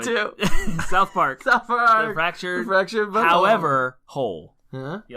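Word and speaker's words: The Fractured But Whole: The Fractured Butthole.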